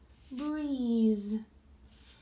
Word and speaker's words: breeze: B-R-E-E-Z, breeze. Notice I don't tap the E because it's silent.